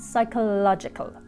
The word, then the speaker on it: psychological: and he can change next is the silent p in such words as psychopath and psychological if you're like playing